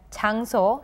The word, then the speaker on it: 장소: As for the word 장소, the letter 장 is followed by the letter 소, and it is also read as 장소, just as it is written.